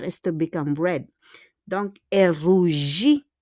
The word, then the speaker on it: rougit: Donc, elle rougit. Again, there's a T, but we don't pronounce the T.